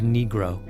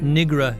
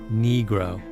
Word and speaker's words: negro: the court on the correct pronunciation of negro not Negra your honor negro another time he was